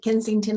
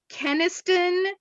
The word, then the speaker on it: Kenniston: it commissioner Kensington you have a comment here I think what we need to do is have a how to pronounce name seminar it's K kenniston there's no G I've always gone with